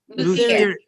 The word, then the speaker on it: luthier: is oh let's see wait a minute um it's spelled l u t h i e r that is the word meaning luther meaning a guitar maker luthier luthier so you can say oh i thought